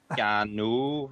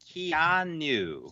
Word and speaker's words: Keanu: And they make fun of Stu because he says it to rhyme with piano. Keanu. That sounds right in a way, too. Don't confuse me. It's Keanu.